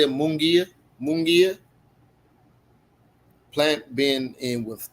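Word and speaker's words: Munguía: Mungia.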